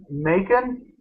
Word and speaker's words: Macon: Okay, I guess the main guy's name is Macon. Rhymes with bacon.